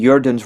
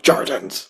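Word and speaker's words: Jordens: a line called like I believe the pronunciation in Norwegian would be Jordans Rotta. Because I know, isn't it in Norwegian that you pronounce the J's as like kind of like a Y sound, right? Yeah. Kind of. Uh, yeah, the rats of the earth. Gotcha. Because like in the song, it's pronounced with a hard J.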